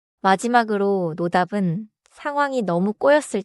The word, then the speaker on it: 노답: 노답은 짧게 노답. 너무 세게 끊기보다 한 덩어리처럼 말하면 자연스러워요.